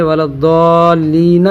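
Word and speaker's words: الضالين: ضال، اوپر مد، ولضال، لام یا زیر لی، ولضالی، نون زبون، ولضالین۔ جب ہم یہاں بولیں گے آگے آیت، یعنی جب وقف کرنا ہو، آپ کو رکنا ہو، تو ایسی صورت میں ولضالین کو ہم ولضالین پڑھیں گے، ٹھیک ہے۔ چلیے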